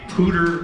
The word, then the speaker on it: Poudre: I was confused as to how you pronounced the name of this band, but apparently it is the Poudre Valley Playboys.